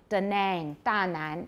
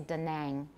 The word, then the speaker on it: Da Nang: do have that word in a place name da nang in vietnam they'll say da nang so nag nang tag all right so these